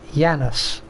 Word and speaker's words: Janus: I've worked with a few Janises and it's pronounced Yanis.